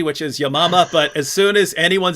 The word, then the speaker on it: Yamama: And writing on this, which Hatun just mentioned, the Battle of, I say Yamama, that she pronounced it correctly, which is Yamama, but as soon as anyone says Battle of